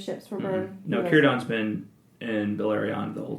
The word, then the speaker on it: Círdan: Círdan, yep. Círdan, the shipbuilder. So the burning of the ships, is this related at all? Did Círdan, was he there when those ships were burned? Mm-hmm. No, Círdan's been in Beleriand the whole time.